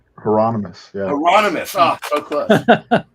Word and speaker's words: Hieronymus: correct me because I always say this guy's name wrong. Hermione is Botch or Hieronymus Botch. Hieronymus, yeah.